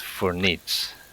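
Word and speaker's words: voor niets: And it's pronounced for niets.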